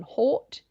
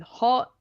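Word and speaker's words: Haught: I saw how it was spelled, and it's like my brain overrode any other pronunciation than Hort, and all of the jokes about the wordplay to do with hot just flew all the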